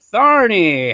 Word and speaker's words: Tharney: from sioux falls south dakota let's welcome tharney how's it going i hope i said that right did i say that right did i say that right is it that's how it's pronounced right tharny barney yeah ah sweet good job good job